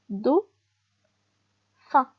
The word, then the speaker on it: dauphin: regardez dauphin بي اش هنا يتقرا اف.